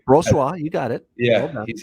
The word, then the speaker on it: Brossoit: I agree that Brossoit, or however you pronounce his name. That's right, Brossoit.